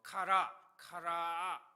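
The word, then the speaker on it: קרא: 뭐 카라 카라 뭐 이렇게 발음을 하는데요.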